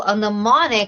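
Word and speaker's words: mnemonic: keep them all right so aonic the m is silent aonic is just a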